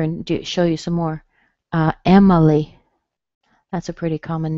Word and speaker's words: Emily: Emily. That's a pretty common name these days. Emily. Okay, the I has been reduced.